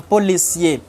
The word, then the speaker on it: policier: get the pronunciation, So words in French, if it ends with R but it doesn't have an E, don't pronounce the R. For example, the police, we say un policier, or the plumber, we say un plombier.